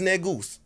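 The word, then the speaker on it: negus: say n-e-g-u-s which is net goose so they ain't got to bleep that you know mean king when i say it's any g-u-s that's how we pronounce it but it's ethiopian word for king you know what i'm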